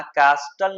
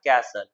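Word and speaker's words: castle: यहां कैस्टल नहीं पढ़ना है। टी साइलेंट रहेगा। कैसल Qila to build कैसल इन द एयर।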